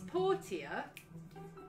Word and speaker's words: Portia: It's Portia, but because some of the different NPCs are